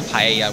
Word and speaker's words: paella: here also we got paella i don't know if that's how you pronounce it but because of its uh if it's hispanic which i'm pretty sure it is paella would be correct i'll take your